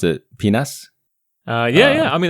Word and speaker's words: PNAS: Great journal or PNAS, I believe you like to pronounce it penis.